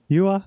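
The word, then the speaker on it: Juha: Yuha Vernon. With a J though, Yuha.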